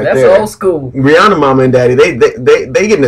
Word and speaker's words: Rihanna: Actually, yeah, it's either. She pronounces it Rihanna.